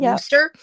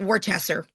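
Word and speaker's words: Worcester: Just south of I'm gonna say it right cuz this is broadcast to everybody but Worster. Yeah, I say it wrong for Eliza. I call it Wartchester.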